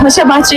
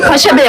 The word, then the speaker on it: Paşabahçe: Şöyle ki ben Paşabahçe ile ilgili bir şey söyleyecektim ve Paşabahçe'yi Paşabey olarak telaffuz ettim ve o kadar emindim ki Paşabahçe dediğimden Paşabe Bey Paşabahçedir. Aksini iddia eden de bardak